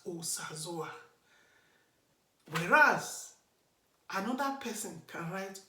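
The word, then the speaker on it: Osazuwa: You quickly check, there's no diacritic under the letter O, so I should pronounce it as Osazoa.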